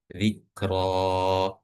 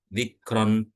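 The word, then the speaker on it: ذِكْرًا: dipanjangkan, yaitu cara bacanya zikro, zikro, zikro. Oke. Jadi bacanya bukan zikron atau zikr, bukan atau zikir, bukan tapi zikro. Zikro. Oke. Jadi dibacanya panjang ya.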